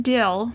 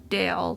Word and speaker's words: Dill: and force his son Dill not Dale think Dill like Dill in but spelled like a pickle will Dill isn't allowed